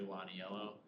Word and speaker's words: Lionello: So, this is the location of this underpass, and it's spelled Lionello here, but it's actually Lonnie Yellow.